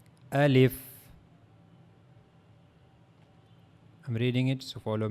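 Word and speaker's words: ألف: So now the articulation point of the al if as you can see in this picture this is the pronouncing point of the al if the empty space of your mouth.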